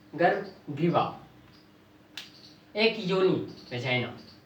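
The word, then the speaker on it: vagina: एक योनि वेजाइना, जिसको बहुत ज्यादा वेगाइना भी बोलते हैं, वेजाइना बोलते हैं, सबका अपना अपना प्रोनाउंसिएशन होता है। इसको जनरली हम लोग बोलते हैं वेजाइना।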